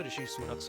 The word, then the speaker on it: Rishi Sunak: Just today, we've got news that Rashid Sunak is now the Prime Minister. In October 2022, the US President mispronounced UK Prime Minister Rishi Sunak's name.